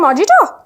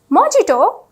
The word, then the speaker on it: mojito: sweet something sweet dessert can I have a Mojito mojito is that the way have you been pronouncing that word all this time no the